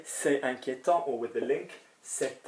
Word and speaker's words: inquiétant: It's worrying, inquiétant would be the same pronunciation, A-N-T.